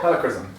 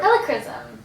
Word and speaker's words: Helichrysum: I can't pronounce this. Helichrysum? Helichrysum. Yep. Helichrysum.